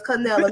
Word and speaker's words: Canila: canela so i'm gonna give y'all some couple syllables just a little bit now love so it's canelo nobody in the world has my name so